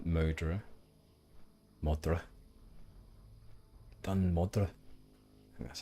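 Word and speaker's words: Dun Modr: then we will go up to D modra modra DM that's how you say it and then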